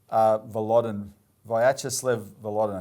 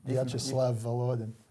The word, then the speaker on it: Vyacheslav Volodin: the Russian State Duma, Vyacheslav Volodin. Have I pronounced that right? Not quite, but it doesn't matter. Okay. Vyacheslav Volodin.